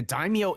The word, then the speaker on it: daimyo: It's Daimyo.